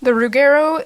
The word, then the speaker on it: rougarou: Anyway, the Rougueru is actually a Michif pronunciation of the French term for wolfman, loup-garou. So the Métis Nation, or